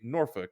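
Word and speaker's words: Norfolk: they say it like you got the people who say norfol which is what the locals call it it's nor you got the L conundrum indeed you've got nor folk you've got all kinds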